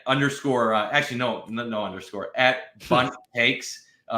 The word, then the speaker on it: Bundt: But if you're trying to find me on TikTok or YouTube, look up at underscore, actually, no underscore, at Bundt Cakes. Rhymes with Bundt Cakes.